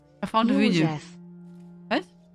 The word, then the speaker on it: József: You pronounce it different. Cyrun? Can I say if it's right? I found a video. József. What? József.